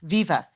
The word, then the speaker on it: Viva: Yes, Viva. It is a pleasure to meet you both. Yeah, Viva, like one word.